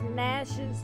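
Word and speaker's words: Gnash: He's Nash with a silent G, best friend, which means she's constantly attacking him.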